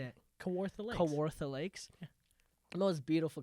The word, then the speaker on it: Kawartha: at kawartha lake how do you say it kawartha kawartha lakes the most beautiful cottage super nice